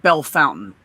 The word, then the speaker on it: Bellefontaine: It's supposed to be pronounced Bellefontaine because it's French, right? I see it or whatever. Yeah, and so they in Ohio they call it Bell Fountain.